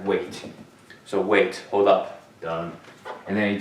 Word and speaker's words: 等: This one means 等, okay, pronounce 等. What 等 means, D-E-N, let me write it down here too, 等. Third sound.